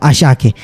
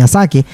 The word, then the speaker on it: Asake: ndio hilo hilo anaitwa Ashake yaani jina sisi kwetu tunasema kwamba ni Asake ila linatamkwa Ashake ni jina la kike